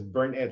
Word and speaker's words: Bernett: from burn it so she says burn it like you burn it you burn it it